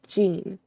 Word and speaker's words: Jean: Jean is not John from Ruby. Her name is pronounced Jean.